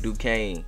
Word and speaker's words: Duquesne: Duquesne.